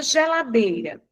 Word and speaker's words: geladeira: Vamos pegar a palavra geladeira. Geladeira, né? Eu tenho aqui o dei, que eu pronuncio com mais intensidade.